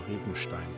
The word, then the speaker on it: Regenstein: Indeed, many decades have passed since the curse upon poor Rigenstein came down. That's how you pronounce that. Not very German.